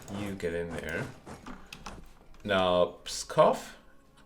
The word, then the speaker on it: Pskov: Now, Pskov, as I assume now it's pronounced. Thank you, Visa, for the update on the pronunciation.